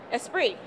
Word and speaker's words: Esprit: right okay let's take a look can you pronounce this word esprit that's right what is what do you know